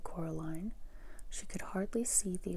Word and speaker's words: Coraline: name wrong you know they keep saying coraline not caroline not caroline at all he picked up